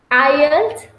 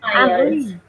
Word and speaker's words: IELTS: thing that I have to say is the pronunciation of the name of the test, which is IELTS. IELTS. Yeah, that's it. Okay, But thanks. it was great. So thank And you. IELTS.